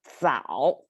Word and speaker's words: 早: sound pronunciation over there, which signifies you have to kind of curl up your tongue to make it 找 versus the other one is 早.